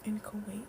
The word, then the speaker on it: inchoate: I think it's inchoate. Inchoate.